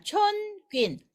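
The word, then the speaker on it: 春卷: 촌퀸. 춘권이죠? 한국말로 춘권. 촌퀸. 자, 제가 또 말씀드리는데 한국 발음하고 완전 비슷하지 않나요? 촌퀸, 춘권, 촌퀸. 아주 비슷합니다. 그래서 여러분들이 한국의 한문을 조금,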